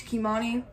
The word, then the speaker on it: Kimani: I don't know how to say it, but a lot of people don't even know how to say my name. It's Kimani, so it's fine with that.